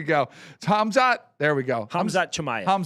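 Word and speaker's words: Khamzat Chimaev: His name is Hamzat Chamaya. There you go. Yeah, it's a tough one. He's from Ch. Let's say there you go. Hamzot. There we go. Hamzat Chamaya.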